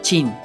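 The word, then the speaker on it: Qin: cambió su nombre a King Shiwang, que literalmente significa el primer emperador de Kin o pronunciado más adecuadamente Chin, ¿de donde viene el nombre de China?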